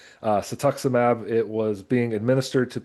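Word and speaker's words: cetuximab: It was a anti-cancer drug called I always almost say it wrong, satuximab. uh satuximab it was being administered to people in trials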